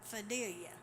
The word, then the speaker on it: Fidelia: aunts her name was fidelia now that's how they say it North Alabama fidelia so um that's why